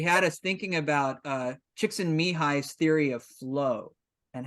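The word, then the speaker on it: Csikszentmihalyi: basement and she had us thinking about uh chicks and mihai's theory of flow and how to get into flow and uh it's pronounced chicks in mihai but it's spelled like so there you go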